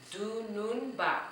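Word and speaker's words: Dununba: So let's try to see how many syllables we have in dunun ba. Okay, let's try that again. Dunun ba.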